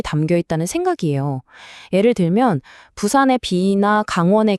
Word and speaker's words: 부산: 원래 부산의 비읍 발음은요, 한자 가마 부자에서 알 수 있듯이 가마솥이 부글부글 끓어오르는 듯한 그런 힘차게 솟아오르는 기운을 상징했어요. 그런데 이게 일본식 표기인 푸산, 즉 퓨산이 되면서 그냥 바람 빠지듯 가볍게 터지는 피읍 소리로 바뀌어버린 거죠.